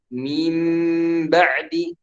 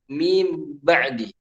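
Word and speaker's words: مِنْ بَعْدِ: sukun bertemu dengan baik mimbaradi jadi kita bukan bacanya mimbadi atau mint Barbie tapi kita rubah menjadi mimbaradi Kenapa dirubah menjadi Meme karena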